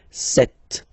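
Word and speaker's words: sept: Then here remember b is not pronounced. Okay. It doesn't exist. So you've got this set sound. Set. Set.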